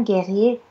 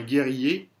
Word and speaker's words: guerrier: Un guerrier casse un vase avec sa hache alors que Clovis voulait le donner à l'évêque de l'église d'où venait le vase.